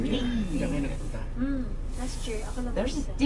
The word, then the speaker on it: Wien: You know how you pronounce Vienna in Austrian? German? It's Wien. Bean. Wien.